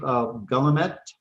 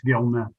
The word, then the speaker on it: Gil: Uh, next, Gt, did I pronounce that right? Main motor vehicles. very close, Representative. It's Gil.